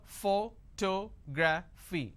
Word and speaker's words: photography: do I have here photography four syllables but in this case I stress on the second syllable that is what word